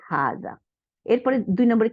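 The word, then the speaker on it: هذا: তাইলে এখন কি হলো হাদা বাট ইট is written without the fast আলিফ তাইলে উচ্চারণ হবে হাজা এরপরে দুই নম্বরে কি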